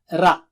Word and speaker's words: ر: And don't say it like English ra. Ra. No, not high frequency. Rat. No. Ra. Okay? And also, remember, it should be thick. Ra is thick.